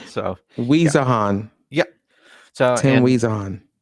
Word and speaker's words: Wiesehan: It's Wiesehan. So yeah, Wiesehan, yeah.